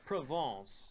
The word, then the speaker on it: Provence: We're from France, so it's Provence.